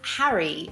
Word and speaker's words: Harry: In British English, I pronounce the name of this character as Harry, which is not the same as hairy, which means a person with a lot of hair.